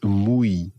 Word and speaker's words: muy: word to say, this muy. If you imagine what a cow does. Moo. Moo, yeah. So Spanish cows would say moo. Moo. And then at the end, smile. Y. Y. Muy. Muy. That's it.